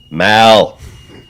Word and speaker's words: Mal: for having me man how do you pronounce it Maul it'll be fun Mal as in Malcolm so you had caught